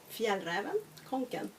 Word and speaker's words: Fjällräven Kånken: Repeat after me: Fjällräven Kånken.